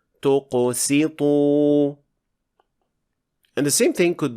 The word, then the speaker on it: تقسط: Here, Sin was mispronounced as Sad because it was affected by the Qaf and the Ta, which are both heavy letters. And it should be pronounced like this. تقسط.